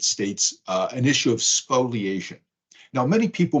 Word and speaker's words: spoliation: in the United States uh an issue of spoliation now many people mispronounce it as spoilation that's fine because it helps folks to remember